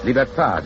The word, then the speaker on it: libertad: Liberty is pronounced liberté in Haiti and Martinique, libertad in the islands that still keep the Spanish tongue.